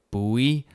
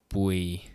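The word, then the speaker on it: Bùi: I hear a lot of buoy, but come on, people, we're not at sea. If you want to say it right, it's just buoy.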